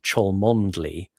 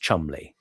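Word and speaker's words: Cholmondeley: So, you know, the famous one like that's the one that is spelled Cholondly, which is pronounced Chumli.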